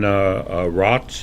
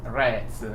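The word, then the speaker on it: Rääts: with his pronunciation Yan rots is that how you pronounce his name the pronunciation should be rats with the yeah and R A like apple R rats R and so tell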